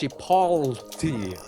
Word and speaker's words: chipotle: It's it's it's spelled Chipotle, but it's pronounced Chipoti. Yeah.